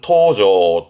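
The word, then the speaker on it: 搭乗: 발음은 토조 토조 탑승의 탑이고요.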